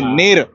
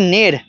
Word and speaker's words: Neru: जानेंगे कि कैसी लगी नीर तो सर जी यह कहानी जैसे की नेर जो लोग प्रोनाउंस करते हैं नेरो दैट इज रंग इट्स नेर नेर यानी सत्य सत्य यानी